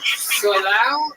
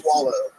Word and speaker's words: Solau: Solau? It's actually pronounced swallow.